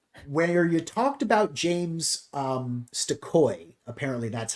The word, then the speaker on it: Stokoe: Where you talked about James Stokoe.